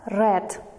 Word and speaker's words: read: students pay attention that the spelling of the word read is the same but we pronounce in the past simple as red british yesterday please ask